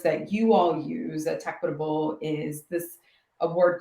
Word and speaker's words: tEQuitable: tEQuitable is we are a product development company. The company name is pronounced tEQuitable because we use technology to make workplaces more equitable.